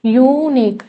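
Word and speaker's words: unique: यहां पे यूनिक जो है देखने में तो वॉल लग रहा है बट इसकी वॉल साउंड नहीं है। यूनिक यू ये ऐसे आ रहा है। ठीक है? यानी कि ये आ रहा है वाई यू। तो वाई यू तो कंसोनेंट है। कंसोनेंट साउंड है। कंसोनेंट साउंड के साथ ए आएगा। ए यूनिक।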